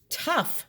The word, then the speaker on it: tough: that rhymes with it does cough rhyme with tough no it does not tough sounds like uff uff this sounds like off off cough does not rhyme